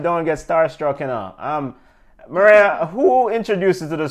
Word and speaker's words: Mireya: Mireya, am I pronouncing your name correctly, Mireya?